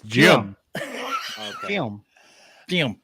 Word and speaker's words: Jim Jam: was Jim Jim Jim you're not saying it right it's Jim Jam thank you Jim Jim